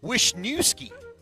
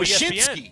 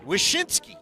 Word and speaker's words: Wyshynski: Greg Wisniewski. Oh, Wyshynski. ESPN. Yeah. Wyshynski.